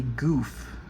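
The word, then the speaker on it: Gouf: It is blue, and it is called a goof. It's like goof troop, like G O F, but it's spelled G O UF. It's called a goof.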